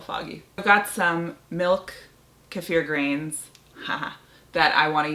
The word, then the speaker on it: kefir: It's pronounced kefir, by the way, but I was raised drinking kefir, and in my mind, since I was, 3 years old, the word is kefir, so I'm probably gonna keep calling it that.